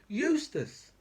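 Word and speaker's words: Eustice: got mps like george eustis i mean it's so it's so good that the man's name actually rhymes with useless that's the best thing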